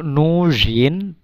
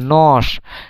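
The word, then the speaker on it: нож: এখানে আহ, জ- এখানে যে এই যে এর উচ্চারণ কিন্তু যে হচ্ছে না, এটা যে এর উচ্চারণ কিন্তু দন্ত স এর মতো হচ্ছে নস। এখানে উচ্চারণ হওয়ার কথা ছিল নজ, কিন্তু নজ না হয়ে নস হচ্ছে। তো এটা কেন হচ্ছে তার কারণ আছে।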